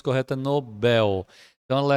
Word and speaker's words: Nobel: mas a pronúncia correta Nobel Então ela é uma oxítona aqui não acentuado Nobel também não acentuado porque ela é uma oxítona terminada em L só as paroxítonas terminadas